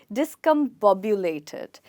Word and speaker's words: discombobulated: it's hard for me as well but it's pronounced as discombobulated it has a similar meaning to the word disconcerted which means to lose composture so when you lose your composture that's when you feel discombobulated this one is out of anger you lose